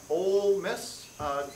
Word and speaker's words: Ole Miss: Professor Olsey, Professor Michael Olsey, my other good friend, occasional basketball cohort, and a 2000 graduate of, I've been told it's pronounced Ole Miss, graduate of Ole Miss in physics in 2000.